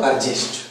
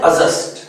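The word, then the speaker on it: adjust: इसी तरह से एक बहुत ही फेमस वर्ड है, जिसको आप लोग बोलते हो अर्जेस्ट। ये है अजस्ट।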